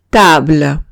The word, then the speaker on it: table: Ejemplo, table. Table significa mesa. Y paro en la L, digo table y ya está. No pronuncio la E.